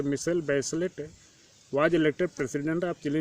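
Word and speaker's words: Michelle Bachelet: That girl मिशेल बैचलेट, pronounce मिशेल बैचलेट, was elected president of chilli in January 2000।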